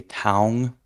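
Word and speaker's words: taung: it like we do they would say Tong that's how they would pronounce that if they were pronouncing it the same but Chang the spelling to match the pronunciation then they would spell it with an OA instead of an au right cool makes sense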